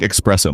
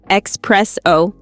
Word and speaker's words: espresso: Ah, yes, the classic espresso mistake. Yep, no X in there, it's espresso, not expresso.